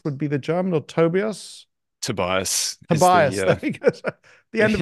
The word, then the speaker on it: Tobias: even in America I need to learn to pronounce your name right so is it Tobias would be the German or Tobias Tobias Tobias the end of an hour I